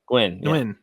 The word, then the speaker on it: Nguyen: I'm going to say the last name wrong. Miss Nguyen. Nguyen. Yeah, Gwen.